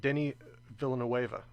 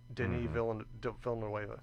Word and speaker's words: Denis Villeneuve: That is Denis Villeneuve. I think is how you pronounce it. Denis Villeneuve.